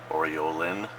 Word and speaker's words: Aureolin: I wish I could pronounce it. Aureolin Yellow.